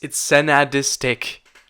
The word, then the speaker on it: Sensadisc: Nobody can pronounce it. It's Senadistic.